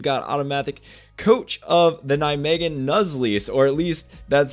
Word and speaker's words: Nijmegen: So actually, before we move on, the team name Nijmegen Nuzleafs, indeed, that's how I would pronounce it.